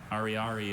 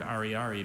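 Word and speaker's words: ariary: Ari is a noun. Katya chose not to spend her last 100 Ari banknote, but kept it as a souvenir of her trip.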